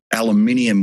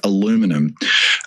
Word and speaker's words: aluminium: And so then he goes and puts tariffs on steel and aluminium, which I believe is pronounced aluminum, which are used by factories everywhere.